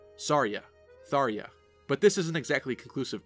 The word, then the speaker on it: Tharja: I've seen many fans point out that it would then make even more sense for the J to be pronounced like a Y, to be similar to her original Japanese name, Sarja, Tharja.